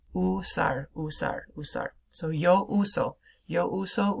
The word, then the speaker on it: usar: Notice it looks like the word to use. It also means to use, but it's not pronounced usar. It's usar, usar, usar.